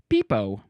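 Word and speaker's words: pepo: It's spelled P-E-P-O, which I think could be either Peppo or Peepo. Either one sounds great. Let's see. It's going to be over here just for some pronunciation. Peepo. That's what it is.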